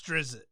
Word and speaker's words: Drizzt: You'll see them spell it differently, but it's Drizzt, And he became such a popular character that it just got put in everything.